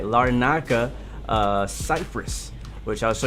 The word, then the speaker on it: Larnaca: la la la naca gotta say it right larnaca uh cypress which i'll show you guys on